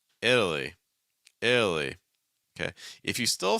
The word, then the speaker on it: Italy: we can put everything else together it's like Italy Italy Italy Italy Italy Italy Italy okay no it's not Italy or Italy or Italy or Italy or anything like that no it's Italy Italy okay if you still find that to